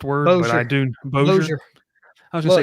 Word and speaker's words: Bossier: Yes, I don't know how to pronounce that first word, Bossier. But I do. Bossier.